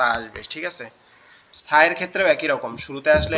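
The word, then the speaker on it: ث: দুইটা হরফ, আরবি টোটাল হরফগুলোর মধ্যে দুইটা হরফ শুধু তিন নোক্তাওয়ালা, একটা হচ্ছে সা আর একটা হচ্ছে সিন, একটা হচ্ছে সা আর একটা হচ্ছে সিন।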